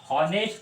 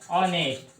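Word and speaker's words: honest: और ये हॉनेस्ट नहीं है तो इसको हम लोग प्रोनाउंस ऐसा करेंगे, ऑनेस्ट।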